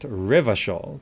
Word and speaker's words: Revachol: Ravachol is pronounced Revachol.